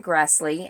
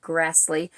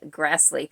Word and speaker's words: Grassle: Prairie dust by Karen Grassley and you do pronounce her name Grassley I it's hard for me to say that because to me it looks like it should be Grassle but I have you